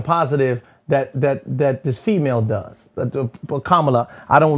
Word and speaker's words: Kamala: Because I don't want to pronounce her name wrong, so that's why I'm saying it. Kamala.